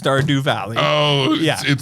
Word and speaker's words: Stardew Valley: Starved Valley Do. No, I think it's pronounced Stardew Valley.